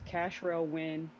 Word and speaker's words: Cashrel Win: It is Cashrel Win. Cash like money. Win for the win.